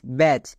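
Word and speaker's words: batch: টি হবে ওকে তাহলে বি এ টি সি এইচ ব্যাচ একই রকম ভাবে সি এ টি সি এইচ ক্যাচ next F এ টি সি এইচ ফ্যাচ এবার এখানে দেখো প্রত্যেকটি টি সাইলেন্ট কেন কারণ টি এর পরে সি এইচ আছে বা এর ক্ষেত্রে আরেকটি নিয়ম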